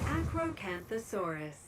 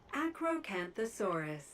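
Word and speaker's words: Acrocanthosaurus: Meet the I don't know how to pronounce it. Just listen to this woman. Acroanthossaurus. Acroanthossaurus.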